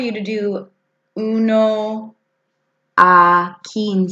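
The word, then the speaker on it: quince: Catorce a cat door say 15 as keen say you and you always make the sound like when I say what I can say okay so 15 as keen say 16 sdsc safes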